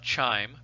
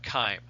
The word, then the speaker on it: chyme: refer to it as chyme chyme not chime but chyme i mentioned before many times that that biology is filled with latin words and uh in in latin the language spoken by the romans they did not have a soft ch sound right so you know